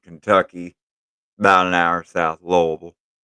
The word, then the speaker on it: Louisville: about an hour South lville Louisville for the UN for Out of Towners yeah that's how they say it's l Lille l l and our South Lille Lambert